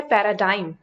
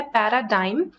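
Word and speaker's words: paradigm: के लिए और एक यहां पर वर्ड है पैराडाइम यहां पर जी साइलेंट होता है पैराडाइम इसका मीनिंग हो जाता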